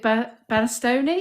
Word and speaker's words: Bastoni: Because interesting that obviously Thanks, we've been linked with Bastoni. Is that how you say his name? Bastoni, yeah.